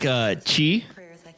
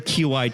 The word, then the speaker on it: Qi: it comes from the Han character that's pronounced Chi in Chinese or Ki in Japanese, meaning energy.